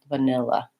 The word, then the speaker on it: vanilla: n is long, and these other two with reduced schwa sounds are short, vanilla. So practice stretching out on your nil and going quickly and having a reduced vowel on the first and last syllables of that word.